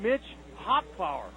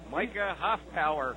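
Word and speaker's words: Micah Hoffpauir: Then a guy named Mitch Hofpower. How do you say that one? Micah Hofpower.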